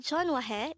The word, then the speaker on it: 전화해: this is pronounced as a three-syllable word the first syllable is john second syllable is hua third syllable is he pronounce it with me again the word jon wahe is an informal way